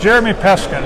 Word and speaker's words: Jeremy Peskin: I'm with Jeremy Peskin. Is that right? If I pronounced Yes, that right?